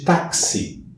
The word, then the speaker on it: táxi: x em x de táxi quando eu escrevo a palavra táxi visualizando aqui tenho quatro letras mas x2 sons um som de cá e de s portanto a pronúncia não